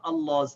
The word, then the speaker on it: Allah: So when we start reading from Allah's name, we pronounce this alif, and we pronounce it with a fatha. We say Allah.